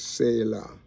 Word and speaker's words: Selah: Selah, like the last, it is like you say, the way it's pronounced in the Hebrew is like the last letter is like law, like the Torah, spelled just like the Torah, you know, Selah. Okay, and so it comes